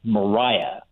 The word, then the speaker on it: Maria: the side note that her name was probably pronounced Mariah um under the the pattern of the day and what this story